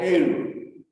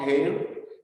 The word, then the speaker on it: heir: Because students, H is very silent letter wherein we have to stress an hour, which is a vowel. The next letter here we have is vowel. And the stress is on the second letter. An hour, an honorable man, and heir. It's not hair and hair.